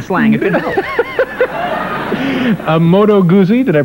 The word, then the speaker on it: Moto Guzzi: A Moto Guzzi. Did I pronounce that correctly? That's Moto Guzzi.